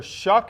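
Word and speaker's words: Shough: kept kept there's kind of star quarterback Tyler shuck and my pronouncing that right yes it is a Tyler shuck will have him for an interview later today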